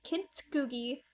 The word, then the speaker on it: kintsugi: So kintsugi, I don't know how to pronounce it. Kintsugi.